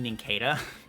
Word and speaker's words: Nincada: I think it should be Nincada, because I say cicada, and that's what it's based off of.